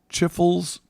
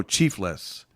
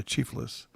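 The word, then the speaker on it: chifles: for its unlimited snacks started passing out chiffles pronounced oh chiefless to Hungry passengers yeah chiefless Hawaii Hawaii has uh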